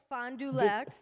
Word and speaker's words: Fond du Lac: Okay, so wait, Fond du Lac or Sfand, I'm a butcher the name of this city. Yep, Fond du Lac.